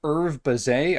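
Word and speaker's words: Hervé Bazin: was a French scholar kind of guy named Herve Bazin, I think that's how you're supposed to pronounce his name, who put out this essay called Plumon L'Oiseau.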